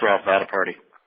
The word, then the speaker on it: Vaddiparty: Just like it looks, Vasu Vaddiparty.